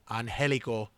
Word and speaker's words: Angelico: I'm going with Angelico.